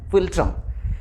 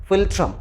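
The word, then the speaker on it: philtrum: में एक वर्ड है लैटिन लैंग्वेज में जिसका स्पेलिंग होता है पी एच आई एल टी आर यू एम फिल्ट्रम इसको इंग्लिश में इसका इंग्लिश वर्जन होता है एफ आई एल टी आर यू एम फिल्ट्रम तो नाक और होंठ के इस बीच वाले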